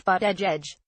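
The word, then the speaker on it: Buttigieg: of Notre Dame academics surname is pronounced fat edge edge would be first openly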